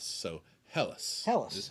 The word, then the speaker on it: Helles: helis helles elise hello it is technically pronounced hell and then us so hellas tell us this is how you pronounce it yes um i always say hells i just like to